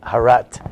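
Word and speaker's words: הרת: Hayom Haras Olam. Today is the creation of the world. But that world, or actually if you have the Sephardic pronunciation, it's Harat.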